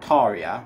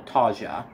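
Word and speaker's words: Tarja: original one is called taria or taja depending on how you choose to pronounce her first name that is the singer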